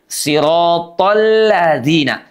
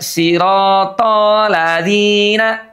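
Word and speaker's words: صِرَاطَ الَّذِينَ: tho disambung dengan alladzina, pastikan ada idgham syamsiyah yang harus diucapkan. Jadinya sirathalladzina tholla tidak siratalladzina ya tapi siratalladzina ditasdidkan, dileburkan, diidgamkan karena dia hukumnya adalah idgham syamsiyah.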